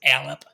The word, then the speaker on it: Allip: We were like calling this like the Leap, the Allip, something like that. Allip, the official pronunciation that's like read by somebody within D&D Beyond is Allip.